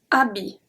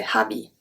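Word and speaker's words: habit: see the first word abi abi so the ash is not pronounced abby i don't say habi abi abi abi is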